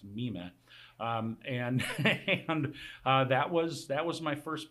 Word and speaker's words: Mime: The role of mime, it looks like mime, but it's actually pronounced mime.